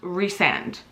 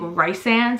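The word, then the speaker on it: Rhysand: brain works rand's name it's pronounced reand I understand because we call him Rees so reand however I just think rice sand sounds better and for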